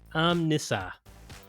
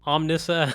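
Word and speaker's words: Omnissa: m- n ss- u with an emphasis on the N so n and apparently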